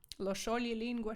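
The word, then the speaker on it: lo scioglilingua: пишеться трьома буквами і коли ми бачимо ось ці три буквочки разом Ми вже не читаємо як сч сче а саме ш І ше тому звертаємо з вами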